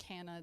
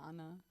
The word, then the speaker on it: Hanna: That's like Hannah. They say Anna. Well, it's actually, I think, because I'm Middle Eastern and Hannah is from the Middle East, I think it's Hanna. Hannah.